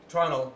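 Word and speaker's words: treenail: whittled peg called a tunnel which is spelled tree nail but said tunnel so this side timber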